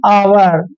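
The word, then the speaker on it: hour: इसको पढ़ते हैं हम आवर कभी हावर नहीं पढ़ते हैं आवर पढ़ते हैं यह रूल आपने ध्यान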